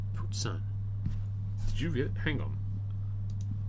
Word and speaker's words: poutine: Oh, you ordered poutine. But, OMG. Alright, this is the legendary Poutine. Oh my gosh. Wait. It's legendary. What did you call it? Poutine. Poutine.